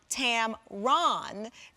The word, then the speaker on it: Tamron: is shared with a camera lens company it's pronounced tam ron and the spelling is exactly the same as